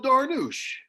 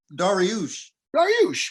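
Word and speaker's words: Dariush: injured say his name say his name again neil darnoosh daranoosh yeah it's daryush what'd i say daranoosh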